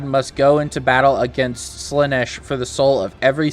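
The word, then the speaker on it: Slaanesh: And this is their way of pronouncing Slanesh, but it's Slanesh.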